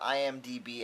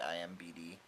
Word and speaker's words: IMDb: be tied with the IMDb app I really like the IMDb app I always say it wrong I always say IMBD anyway um the people